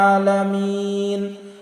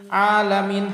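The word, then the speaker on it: العالمين: আমরা অনেকেই পাঠ করি আলহামদুলিল্লাহি রাব্বিল আলামিন। আলামিন হামজা উচ্চারণ করি। কিন্তু এখানে হামজা হবে না। এখানে আমাদের আইনের উচ্চারণ করতে হবে। একটু চাপ দিয়ে। আলামিন এবং শেষে যেয়ে আমাদের তিন আলিফ টান দিতে হবে আলামিন।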